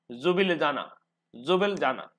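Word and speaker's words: Ljubljana: L silent है और बाकी सभी वर्गों का उच्चारण होगा, वर्णों का उच्चारण होगा जुब लिजाना, ठीक है।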